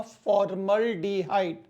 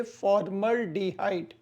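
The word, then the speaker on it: formaldehyde: ऐड कर दीजिए एल्डिहाइड तो इसका प्रोनाउंसिएशन होगा फॉर्मल्डिहाइड, इसके उच्चारण होंगे फॉर्मल्डिहाइड।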